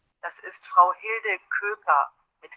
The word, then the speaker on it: Köker: Das ist Frau Hilde Köker mit K, also K-U-E-K-E-R.